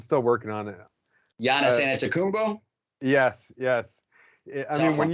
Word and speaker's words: Antetokounmpo: Giannis Antetokounmpo?